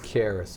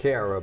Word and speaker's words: Caerus: The Harris Foundation. The Harris Foundation. These are the 6 areas. Not Cara, but Harris. Harris. Okay. It's spelled kind of weird.